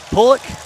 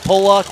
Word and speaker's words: Pollock: car number 88 from pulik south dakota i said it right i called it pollock once and i got yelled at for days it's pollock south dakota